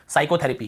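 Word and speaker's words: psychotherapy: और उसके बाद देखिए साइकोथेरेपी, क्या बोलते हैं, साइकोथेरेपी। यहाँ पे आपको पता चल गया पी साइलेंट है ना, हमने क्या पढ़ा इसे, साइकेट्रिस्ट, साइकेट्रिस्ट यहाँ पर हिंदी में लिखा साइकेट्रिस्ट।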